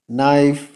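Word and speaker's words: knife: ওয়ার্ডের শুরুতে কে এন যদি থাকে তাহলে কে উচ্চারণ করার প্রয়োজন নেই যেমন নইফ not knowledge knock follow for part two ধন্যবাদ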